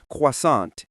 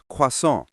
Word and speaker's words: croissant: It's like when English speakers try to pronounce croissant, but it comes out sounding like quasant instead of the French quason.